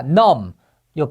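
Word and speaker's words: numb: 서네이 안락 사니다 자 넘요 비가 무음이에요 발음 안 돼요 넘 마비된 감각이 없는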